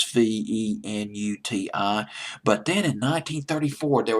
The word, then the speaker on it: Venuti: Venuti, in case I'm mispronouncing the word, is Venuti.